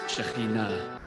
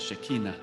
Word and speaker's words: Shekhinah: I know it is not easy to say that word, to pronounce Shekhinah, commonly mispronounced as Shekinah.